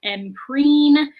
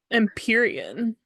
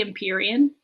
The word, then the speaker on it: Empyrean: Council is our first mention of the word Empreen, which is the name of the whole series, is the Empreen series. Is that pronounced? I thought it was Empyrean. Oh, great. That sounds better. Probably Empyrean.